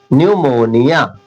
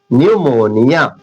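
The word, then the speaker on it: pneumonia: देखिए पी यहाँ साइलेंट हो जाता है, तो इसे देखिए ध्यान से, एन से शुरू हो रहा है, न्यूमोनिया, न्यूमोनिया, पी साइलेंट।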